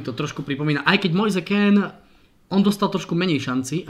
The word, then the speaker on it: Moise Kean: No, vyslovuje sa to Moise Kean. Pretože jeho je má síce predko z Afriky, ale jeho meno je už potaliančené, bol už narodený v Taliansku, je to mládežnícky taliansky reprezentant, takže prepáč, ale inak aj ja som s tým mal tiež veľké problémy, kým som to našiel, ako sa to vyslovuje. Teda Moise Kean, ako sa píše, tak sa to v podstate číta, mladík, 18-ročný, ukázal sa